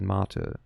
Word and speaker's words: Mate: Like, because in German, I know it from Club Mate, but like, we pronounce it Mate. But I don't know. Oh, it is Mate.